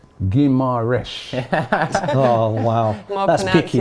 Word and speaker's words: Guimarães: Football 2021 says, Robbie on Transfer Daily, stop saying Guimarães. It's Guimarães. Oh, wow. More That's picky, man.